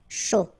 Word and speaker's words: chaud: final T not pronounced, chaud, final D not pronounced, un café glacé, un thé, remember, H is not pronounced.